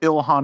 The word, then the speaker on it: Ilhan: Oh, is that how, am I saying it wrong? Yeah, it's Ilhan.